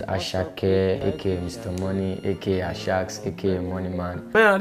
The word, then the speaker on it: Asake: First of all, why is this pronounced Asha? If I talk right now, then go see. So who is Asake?